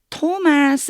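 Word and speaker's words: Thomas: 바로 그 도마가 요때 토마스 라고 읽어 주셔야 돼요 이게 아니고이가 그냥 t 발음이나요 그래서 also also know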